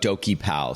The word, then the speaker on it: DokiPal: talk to us about dokie pal so it's do ki and is that it's like okey dokey is that kind of how it's pronounced is that right correct